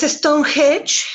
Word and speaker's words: Stonehenge: al lado es una es stonehenge así se pronuncia está un hedge es una tarde vida